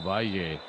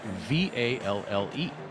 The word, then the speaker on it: Valle: Valle is V-A-L-L-E, and in Spanish, at least in Spain as I understand it, that would be Valle. But South American Spanish, the 2 L's are pronounced more like a J, as we saw last night in Jaime Lloreda, L-L-O-R-E-D-A. And the V is pronounced a little bit more like a B, so it's Valle, as I understand it.